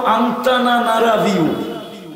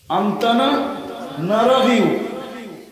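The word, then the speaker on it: Antananarivo: তো এটার রাজধানীর নাম হলো আন্তানানারাভিউ। উচ্চারণ করতে গেলে দাঁতও ভাঙতে পারে। আন্তানানারাভিউ।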